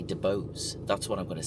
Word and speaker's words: DeBose: So Ariana DeBose, and I'm going to say DeBose because the audio system is called Bose, and that's how it's pronounced, Bose, and her name is DeBose. So I'm just going to say DeBose.